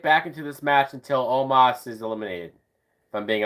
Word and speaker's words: Omos: Omos. Even though it's spelled almost. There's no A in his name.